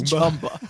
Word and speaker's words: Jumba: And if Nicewig's ever listening to, it's not pronounced like Zumba. Like he pronounced my name Jumba. It's Jumba? Jumba. The man says Jumba.